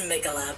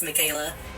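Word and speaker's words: Miquella: they're just like regular names i know it's pronounced megala but i i choose to believe he wrote it as michaela so if it's a ball swing we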